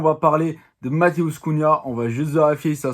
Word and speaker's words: Cunha: youtube aujourd'hui on va parler de ma douce cunha on va juste vérifier ça se passe bien